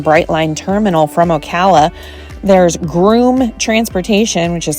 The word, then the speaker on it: Groome: There's Groom Transportation, which is spelled Groome.